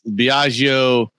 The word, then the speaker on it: Biagio: I would say it's Biagio. That's right. I guess more Italian when I say my shit. Yeah. Biagio. All right. Yeah, I just try to say it like Super Mario would say it, and that's what I do for Italian names.